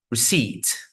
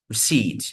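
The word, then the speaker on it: receipt: this B sound there receip receip just like doubt we don't pronounce again this P here receed all right so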